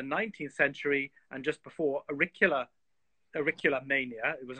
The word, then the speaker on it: auricula: And I always destroy the pronunciation of it, but it's that primula-like flower. Auriculus? Auricula.